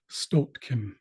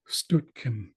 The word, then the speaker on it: stotkin: In the George Gibbs dictionary, it's spelled Stotkin. But I've also heard Stutkin or Stutkin.